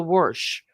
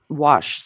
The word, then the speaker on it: wash: used to tell me there's no R in worsh wash.